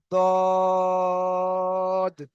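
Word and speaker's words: ضاد: জদ, তো এই বাংলা লেখাটা দেখে কেউ এটা জদ বলবেন না। বুঝতে পেরেছেন? এখানে জদ লেখা রয়েছে, তো এটা কেউ জদ বলবেন না। এটার উচ্চারণটা হয় দদ, এবং জদ এর মাঝখান থেকে উচ্চারণ হয়।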